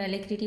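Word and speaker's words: alacrity: एलेक्ट्रिटी आज का हमारा वर्ड है और एलेक्ट्रिटी पार्ट ऑफ स्पीच में नाउन होता है। इसकी प्रोनाउंसिएशन पर जरूर ध्यान देना। एलेक्ट्रिटी बोलते हैं वर्ड को। इसका मीनिंग होता है स्पीड एंड ईगरनेस।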